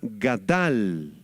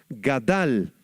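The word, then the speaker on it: גָּדַל: Este término hebreo es la palabra gadal con acento en la segunda a gadal que significa crecer o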